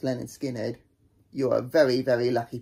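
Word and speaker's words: Lynyrd Skynyrd: So yes, if you find a good clean copy of Leonard Skinner's, pronounced Leonard Skinner, you're a very, very lucky person, because it sounds incredible.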